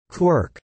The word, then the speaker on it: quark: cry of the gull, was clearly intended to rhyme with mark, as well as bark, and other such words, I had to find an excuse to pronounce it as quirk.